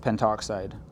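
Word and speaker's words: pentoxide: It might also sometimes be spelled out pentto oxide, but it's always pronounced penttoxide.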